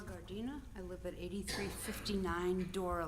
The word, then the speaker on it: Gardina: Garden. Did I pronounce the name right? G A R D I N. My name is Gardina.